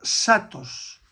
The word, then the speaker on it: zatos: En la isla del hierro se le llama satos. Se escribe zatos.